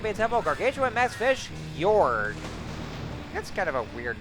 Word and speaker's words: Gyorg: So yeah, as a matter of fact, I think it is pronounced Gyorg. So yeah, I think I'm starting to realize that I do believe the G is supposed to be silent in the name.